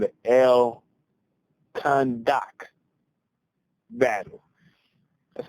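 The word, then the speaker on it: Al-Khandak: One of the major battles that came up was one called the El Khandak battle. That's how I pronounce it, because it's A-L, then hyphen K-H-A-N. So I'm assuming it's pronounced just like Khan, and then D-A-K.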